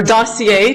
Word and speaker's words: dossier: meaning ask for a second opinion which would require her probably to bring her entire medical dosier or dossier to use the English pronunciation of a French word.